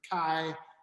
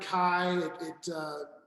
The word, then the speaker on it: Caille: It's a little bit more, the word Caille, it certainly sounds like the word quail in French, but it's, I guess